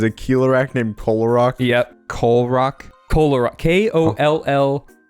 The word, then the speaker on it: Kolarok: in the movie, and some people think it's a mispronunciation, but then they just canonize it. They're like, no, that's Visorak's name. That Keelorak's name is Kolarok.